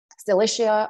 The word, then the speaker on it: Cilicia: Now let's move quickly to Cilicia. Cilicia, or Cilicia, sometimes it's pronounced this way too, is a large region in southern Anatolia.